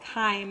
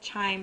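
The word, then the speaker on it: chyme: the stomach that that food is now called Kim I know it looks like chime but it's actually pronounced k crime is this thick liquidy Mash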